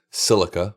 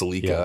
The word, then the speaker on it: Celica: I don't say um I don't say silica or whatever. Celica. So, it's celica. I say Celica, right?